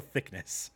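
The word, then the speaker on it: Thicknesse: It's spelled all Britishy, but it's still Thickness.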